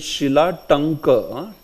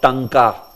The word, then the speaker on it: Shilatanka: See, it is Shilatanka, not Tanka. Many will say Tanka, right?